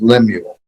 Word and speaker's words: Lemuel: And I pronounce it Lemuel, although he pronounces it Lemuel.